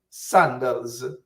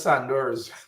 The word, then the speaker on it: sandals: You never used to say sandals. As a little boy in the quarantine, I knew it as Sanders.